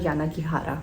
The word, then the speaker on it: Yanagihara: by hanya yana ghihara i always have problems pronouncing that name hanya yanagihara so this author is a cheeky one i